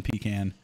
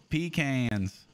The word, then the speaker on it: pecan: too much stank on pecan. You're... emphasizing the shit out of the syllables. Pecans. Pecan tree. What's weird though, if I'm saying like a pecan orchard, I think I would more likely say pecan.